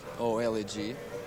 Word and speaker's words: Oleg: my name is Oleg oledg in Russian it sounds like Americans would just pronounce it Oleg friends call me and